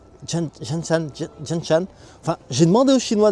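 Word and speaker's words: Zhanshan: En fait, ça s'écrit Zanshan. Mais ça se prononce genre Janshan.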